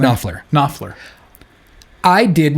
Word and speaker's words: Knopfler: Knopfler.